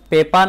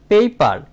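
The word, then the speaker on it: paper: অনেকেই পেপার বলে থাকি পেপার না সঠিক উচ্চারণ হচ্ছে পেইপার অর্থাৎ এ এর উচ্চারণ হবে এই পেইপার পেইপার মানে কাগজ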